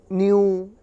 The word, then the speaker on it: knew: एन के पहले जब भी के आएगा तो उस के को नहीं पढ़ते हैं, मतलब वो साइलेंट होता है।